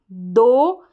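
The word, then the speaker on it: though: ए एल को ऑल, दो, टी एच को द, ओ यू जी एच को ओ करके पढ़ देंगे। यहाँ पर जी एच तो साइलेंट, ओ यू को ओ।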